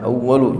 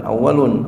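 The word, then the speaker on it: أوَّلُ: ma'ulun aalu ini awalu Bacanya awalu jangan awalun aalu kenapa dia termasuk daripada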